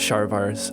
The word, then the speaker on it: Sárvár: youngest sister were killed probably the Hungarian pronunciation is different but your hometown was spelled s a r v a r svar Shar Shar I could not face going